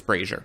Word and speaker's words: brazier: minions fascinating i also said it wrong it's frasier so as as as the question asked there's